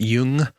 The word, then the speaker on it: Jung: sexual desire so basically young saying libido is everything i'll acknowledge right now that i've heard some people pronounce it jung so if you prefer jung or young it's spelt with a j so in america it's